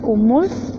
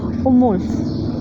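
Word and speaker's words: umül: conejo, que se dice umulf. Y aprendimos el uso o pronunciación correcta de la L al final de una palabra, que es umulf. La L al final de una palabra suena como F, umulf.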